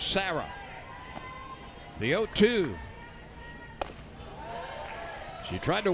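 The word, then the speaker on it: Cera: game Lynn Sarah spells her first name c e r a pronounce Sarah the 02 she tried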